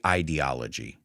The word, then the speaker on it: ideology: I say ideology because it's about ideas.